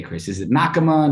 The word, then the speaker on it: Nakama: know how do you say chris is it nakama nakama and that i presume there's like 15 different ways within your own meetings that this yeah yeah it's nakama and it uh it actually it's a japanese